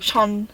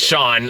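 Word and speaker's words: Jean: there's a bit of how do you say it sea Fon Shan sha it's kind of like you're saying Shan connory a little bit okay like Shan fan Shan okay it's not Sean it's not Sean F John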